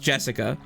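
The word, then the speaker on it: 朱志香: Anyway, blank is pronounced Jessica.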